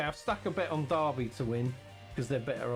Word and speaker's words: Derby: written Okay, so Americans would say that as Derby. Okay, that's how an American would say it. And you're Japanese, so you learn all your English from America. So they would say it as Derby, but the proper way of pronouncing that is Derby.